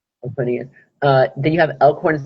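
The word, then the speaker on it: Aquinas: I don't know how to pronounce that. Aquinus. Aquinus.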